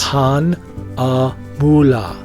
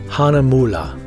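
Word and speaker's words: Hahnemühle: say it like this hon mullah Hana mullah if you're in Germany but if you're an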